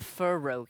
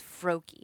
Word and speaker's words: Froakie: It's just FR. It's not Fur. It's not Furroi. It's Froakie.